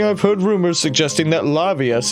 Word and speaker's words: Levias: Recently, I've heard rumors suggesting that Lavius is trapped. Lavius, rather. Well, I pronounced it right the first time, but not that time.